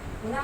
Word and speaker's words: पुनः: पुनः, पुनः माने दोबारा। तो ये पुनः हा का प्रयोग नहीं, बिल्कुल नहीं। इसका प्रयोग होना चाहिए विसर्ग का, तब वो विसर्ग में जो है उच्चारण ह की आती है।